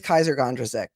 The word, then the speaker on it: Kysre Gondrezick: want to um disparage her by pronouncing her name wrong I did not think that was correct so her name is Kaiser gondrazik beautiful girl apparently Uh Kevin Porter came back